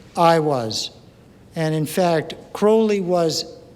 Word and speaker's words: Aiwass: That's where Do What Thou Wilt, which has been discussed, came from, was an entity that is spelled Aiwass. There are various pronunciations for it. I'll just say I was.